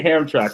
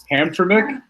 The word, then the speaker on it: Hamtramck: I'm going to say Hamtramck. I want to say Hamtramck, but there's an extra M there, so I know that's wrong. Hamtramck.